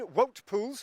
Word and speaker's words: Wout Poels: Well, Dean, Wout Poels, and by the way, that is how you pronounce it, and Johnny Hugeland, what can you tell me?